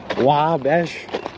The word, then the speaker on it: Wabash: sad about upset about yesterday's wabash debacle wow bash but i think i'm saying it right now good good no repeats